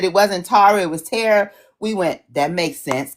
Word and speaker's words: Tarah: It's Tarah. It's Tarah, but you're fine. Okay. I'll answer to both. I have a friend named Tarah too, and when she corrected us that it wasn't Tara, it was Tarah, we went, that makes sense, because that is